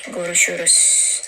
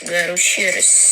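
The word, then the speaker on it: görüşürüz: Tapi eh saya lebih sering menggunakan yang ini gorusurus. Goruurus ya seperti tadi kita bahas ya. S-nya dibaca dengan she sh. Jadi ini bacaannya gorusurus seperti itu, Teman-teman.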